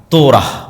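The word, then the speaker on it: תורה: মুসা আলাইহিস সালাতু ওয়াস সালামের কওমকে যখন তাওরাত দেওয়া হলো, তোরাহ বলে ইহুদিরা উচ্চারণ করে, যে তোরাহ, যখন তাওরাত দেওয়া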